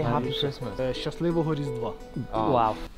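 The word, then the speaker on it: Щасливого Різдва: Shaslivoho Rizdva. Oh. Wow. Shaslivoho Rizdva.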